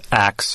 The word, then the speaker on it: ask: here to talk about the historical pronunciation of Acts for ask has been used since the eighth century and derives from the old english verb axion that the people who use the ax pronunciation are using the pronunciation that has been handed down in an unbroken for a thousand years it is not a new thing it is not a mistake it is a regular